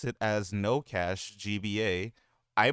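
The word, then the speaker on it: NO$GBA: Though I didn't pronounce it as No Cache GBA. I pronounced it as Nosgba.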